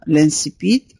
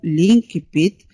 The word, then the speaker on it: l'incipit: وهذا النص الأول أو بداية الرواية تسمى لانسيبيت أو لينكيبيت. هذه الكلمة تنطق بطريقتين مختلفتين، يمكن أن ننطق لانسيبيت ولينكيبيت.